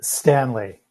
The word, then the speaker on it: Stanley: your last name correctly is it stan lee or san lay it is stanley right on a regular